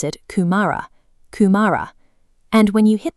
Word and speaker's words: kumara: You pronounce it kumara.